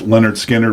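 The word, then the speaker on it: Lynyrd Skynyrd: Leonard Skinner's, pronounced Leonard Skinner, which is their first album.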